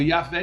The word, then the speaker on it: Yahvé: A BJ Yahvé porque segundo estudios seria a pronúncia mais próxima do nome de Deus. Yaré. Não se tem certeza, mas é muito aceito. A versão católica pegou Yahvé e a portuguesou Javé.